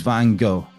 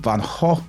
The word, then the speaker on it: Van Gogh: to do what he's van go van go van go vanho as it is in Dutch because I I was